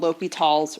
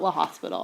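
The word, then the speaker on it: L'Hôpital: rule to use called L'Hopital's rule. So L'Hopital's rule, and it's spelled. So L'Hopital's rule and L'Hopital is the name of a person. It's not La Hospital, I promise you.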